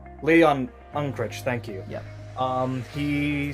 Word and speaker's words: Unkrich: Apparently, the film's director, Lee Ulrich, or I don't know how to pronounce his last name. Lee Unkrich, thank you.